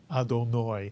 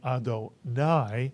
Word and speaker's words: Adonai: the word Adonai incidentally some of you may pronounce this word adoni I've heard people who read pure spartic Hebrew